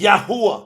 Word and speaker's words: Yahweh: Scientifically, factually, historically, religiously, scripturally proven is Yahweh. That's how it's pronounced.